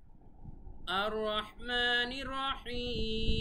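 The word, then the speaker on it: الرحمن الرحيم: আর রহ, এখানে অবশ্যই হা এর উচ্চারণ করতে হবে, হা বলা যাবে না। আর রহমানির রহিম এভাবে নর্মালি বলা যাবে না, গলার ভেতর থেকে রহ বলতে হবে।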